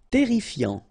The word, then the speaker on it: terrifiant: Terrifiant, final T not pronounced, double R here, so it will open the pronunciation of your E, and then it will be E, terrifiant.